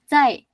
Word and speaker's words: cai: Cai. Cai. Cai. Cai. Jangan C. Aku dengarnya C. Dia dia bukan huruf e walaupun tulisannya huruf C tapi sebenarnya dia dia pengucapannya huruf Z.